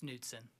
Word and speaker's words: Knudsen: Knudsen, is it Knudsen or Knudsen? I mean, I don't want to mispronounce it. It's Knudsen.